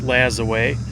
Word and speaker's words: Lajoie: as another name because there's a lot of people that are not completely sure how his name is pronounced, but he was a Frenchborn baseball player and his name was um from everything that I've gathered, it's pronounced Lazaway, but he was um